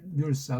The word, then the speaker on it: 률사: 율사로 율사가 아니고 률사라고요. 률사.